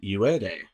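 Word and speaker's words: Yued: the goddess of death has a name called ued and it's spelled y u e d and UA is spelled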